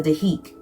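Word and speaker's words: dhikr: call a silence practice the spelled d h i k with a silent r. So deik.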